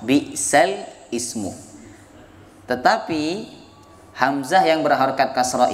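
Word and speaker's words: بِئْسَ الِاسْمُ: Ini bacaan awalnya adalah bi'sal ismu. Bi'sal ismu, ada alnya, ada hamzah berharokat kasrah, bi'sal ismu.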